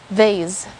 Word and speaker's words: vase: usually pronounce it it's vase it's actually vase or vase but this pronunciation vas is not common in the philippines when i first heard